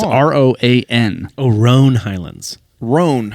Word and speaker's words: Roan: I thought you were saying I said Rowan, Rowan. like Is it Rowan? Rowan. I was pronouncing it Rowan. Is it Roan? I don't know. It's a Roan, I believe.